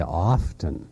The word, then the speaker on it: often: Very often I think people that think they're educated, they say often. Right. Even people who don't have that pretense to education will say often.